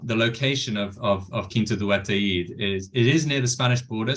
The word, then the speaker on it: Ataíde: QUINTA do ATAÍDE, yeah. ATAÍDE, 3 syllables, ATAÍDE, right?